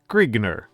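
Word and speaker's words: Grignr: The convention is that G R I G NR is pronounced Grigner.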